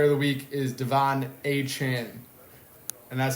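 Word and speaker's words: Achane: built different player of the week is Devon a Chan and that's how you say it I just learned a Chan so he came out after when you scored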